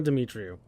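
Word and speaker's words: Demetriou: Yeah, Anna Demetrio.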